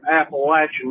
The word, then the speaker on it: Appalachian: Yeah, this is Country Panther calling from the holler and the Appalachian Mountains, and that's Appalachian, not Appalachian like some of y'all pronounce it. That just pisses me off whenever people say Appalachian.